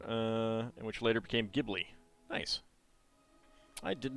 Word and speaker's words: Ghibli: way uh should be Ghibli because um the G is always hard in Japanese although you can look